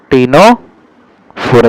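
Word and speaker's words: Ctenophora: टीनोफोरा, यहाँ पे सी एप हमारे पास जो रहता है साइलेंट रहता है।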